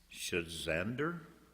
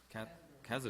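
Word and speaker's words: Cazador: lot 1592 at 6325 Shazander. Did I pronounce that right, Mark? Kazador. Ah. There's no H in there, is there?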